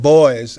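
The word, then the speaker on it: Du Bois: such as w EBD boys as he pronounced his name looks like Dubois pronounced Dubois who was active in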